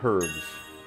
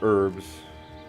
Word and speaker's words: herb: Any 2 herbs. Or herbs. Depending on what part of the world you're from, I guess. I call it a herb. Because that's just how it's spelled.